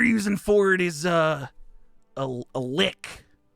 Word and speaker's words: lich: for it is a lick. Talking about a lich? Lick. Oh, that's the one. You said it right, dude.